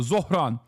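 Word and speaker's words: Zohran: Bernie pronounced it better than you? Yes, I know. It's Zoronqame Mdani. Okay, I know. Zoran.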